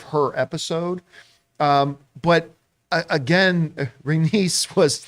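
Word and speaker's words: Rhaenys: and by the way always mispronounces is Uranus renice renice I gotta remember that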